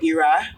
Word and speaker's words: Ayra: this your name called Ira I wanted people to pronounce it as IRA and I was like the only way they can pronounce it is I spell it a y r a so I was thinking